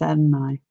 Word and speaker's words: Adonai: Just so you know, if you want the name that he does go by, it is Adonai.